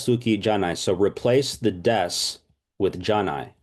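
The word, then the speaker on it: です: cool so heiga Suki des and by the way it looks like Desu but it's pronounced Des this also you can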